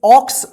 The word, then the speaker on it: ox: इसको ध्यान रखिएगा, देखिए ये बीच में नहीं है, शुरू में है, फिर भी यहां पे OX, ऑक्स उच्चारण होगा, ठीक है ना, तो इसको ध्यान रखिएगा, OX, ऑक्स।